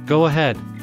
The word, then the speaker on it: go ahead: I won't interrupt again the word go ends with the vowel o and ahead begins with the vowel a so when speaking fast we'd add a really soft sound in between the words to link them together go ahead go ahead